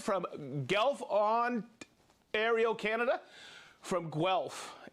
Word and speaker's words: Guelph: From Guelph. Guelph. That's the how to pronounce it.